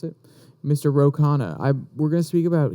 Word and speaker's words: Khanna: And we're going to speak more about Kana, just to make sure. I'm pretty sure that's how you would pronounce it. Mr. Ro Khanna.